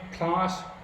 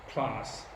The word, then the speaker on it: Klaas: This is a K sound. So first letter of my name, Klaas, K, Klaas.